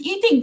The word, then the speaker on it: Ee Ting: Like I tell people my name is Eating, and the next thing they'll tell me is don't joke. Then I said it's true, but it's spelled Eeting.